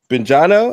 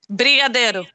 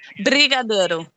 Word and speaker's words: Brigadeiro: And she says, the Bengino or Benjano. Am I saying that right? No, I don't even know what that is. Let me spell it for you. Let me spell it for you. Okay. Brigadeiro.